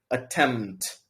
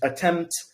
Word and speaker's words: attempt: saying it slowly but when you're speaking quickly you actually remove the uh P so you don't say attempt you say attempt just attempt so I'm attempting to something something the p goes away whereas whenever you're speaking